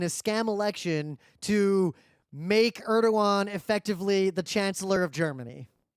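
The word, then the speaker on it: Erdoğan: basically voted in a scam election to make Erdogan effectively the Chancellor of Germany. Oh, is that how you pronounce his name? I thought it was Edrogan.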